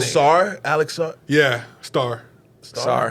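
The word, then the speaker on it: Sarr: Sar. not Sar. S-A-R-R. I don't think you pronounce the T, but I think it's spelled star.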